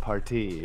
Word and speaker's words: Partee: But his name at Harvard was John Thomas Partee, which is sick because he's a college party, but he pronounces it party. Yeah. That's it. Okay, so I thought it was initial, but yeah, it's just how he says party.